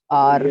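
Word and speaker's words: hour: आर। ये आर, right. अब इसमें भी एच से शुरू होता है, right, but we don't pronounce the एच, we just say इट एज आर।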